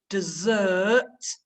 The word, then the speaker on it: dessert: common mistakes made desert dessert so they do sound different there's an extra s stress on the second syllable dessert which of course is